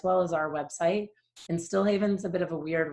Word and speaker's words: Stilhavn: And StilHavn's a bit of a weird one. So some people say StilHavn. It does have more Scandinavian roots.